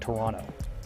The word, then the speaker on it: Toronto: about four hours from Toronto which is how the Canadians say it Toronto there's no second T Billy D grew up